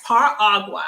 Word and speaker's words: Par'-Aqua: let us know pronounce her aqua am i saying it correctly yes par agua so you take the beginning of my first name which is pear par and then you mix it with agua which is water